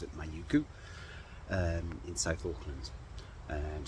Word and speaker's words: Mauku: I'm staying at a little place um called mayuku and m a u k u I think that's how you pronounce it manuku um in South Auckland and it's about 10k's